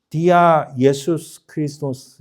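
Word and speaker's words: διά Ἰησοῦς Χριστός: 여러분 원래 그리스의 발음이 우리 영어보다는 한글이 더 가까웠다는 거 아십니까? 영어로는 Jesus Christ 해야 되는데 자, 이 그리스의 그리스의 발음은 디아 예수스 그리스도스 이렇게 발음합니다.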